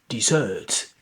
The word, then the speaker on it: dessert: So it's dessert, dessert, a dessert. And what's about the second one? Desert, desert, dessert, desert. So dessert, the first one, this rests in the last syllable, and the second one, this rests in the first syllable.